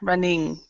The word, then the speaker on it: running: without pronouncing the G. Yeah, running. Yeah, you can kind of Running. pronounce it, but you don't have to pronounce it as strong. So it's running.